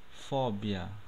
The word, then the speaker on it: fobia: No português a gente pronuncia fobia, né? Isso? Em espanhol pronunciamos fóbia.